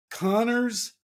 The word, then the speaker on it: Kanner: But in any case, so what I think was, I think that Connor and Asperger, and it is pronounced Connor, even though it looks like Canner, but in fact, some of the patients used to call him Father O'Connor, which is hilarious.